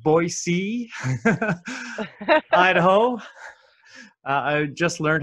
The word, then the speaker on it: Boise: Alberta Canada and Sarah Holcomb and I'm gonna pronounce this correctly Boise Idaho I just learned how to say that